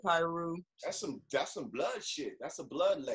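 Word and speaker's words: Piru: county on wednesday evening p-i-r-u i'm pronouncing it pyro that's some that's some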